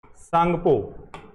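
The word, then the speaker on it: Tsangpo: से जाना जाता है क्या है इसकी स्पेलिंग टी से शुरू होती है सांगपो ठीक है ना याद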